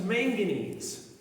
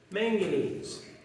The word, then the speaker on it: manganese: colors gray stuff is manganese manganese my friend Larry one of my co-workers says manganese is the only mineral that rhymes with mac and cheese it's a good way